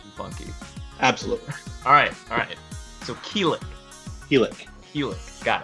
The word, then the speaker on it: Quilic: the routine yet but my GM name is pronounced keel ik as an oligarchy I'm trying to help you